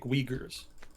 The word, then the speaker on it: Uyghur: called ethnic uyghurs and i think it's pronounced uyghur if i'm not mistaken i could i could have sworn that's the correct pronunciation but somebody in chat was a little skeptical so i leave open that i could be mispronouncing that but i think i've got it right uh so they're ethnic